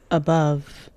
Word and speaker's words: above: এখানে কিন্তু বাইলেবিয়াল এবং লেবিওডেন্টাল আছে। প্রথম বা সাউন্ডটা বাইলেবিয়াল, দুই ঠোঁটে উচ্চারণ হবে, আর পরে শেষের দিকে যে ভা সাউন্ড, এটা দাঁতের ঠোঁটে, উপরের মাড়ির দাঁতের যে ব্লেড, এই ব্লেডটা দিয়ে আপনার নিচের ঠোঁটে এখানে একটু কামড়ের মতো থাকবে, টাচ হবে এই জায়গা অবশ্যই।